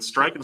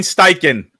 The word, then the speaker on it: Steichen: And Stryken said, Stryken, I can't say his name right.